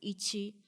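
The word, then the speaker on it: いち: the Japanese language and number one is pronounced as Ichi and here are the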